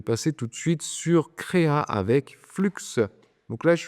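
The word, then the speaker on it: Krea: tout de suite sur créa avec flux donc là je suis sur l'agrégate CRA CREA a ça s'écrit k r e a et donc dans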